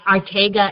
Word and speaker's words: Arteaga: Americans say it Arteaga. It's Arteaga, but Arteaga is fine.